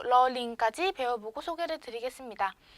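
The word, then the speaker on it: ล ลิง: 여기 R과 L, 러르아, 러링 차이 좀 들리시나요? 러르아, 러링. 요 러르아 같은 경우에는 아르르 소리가 나요.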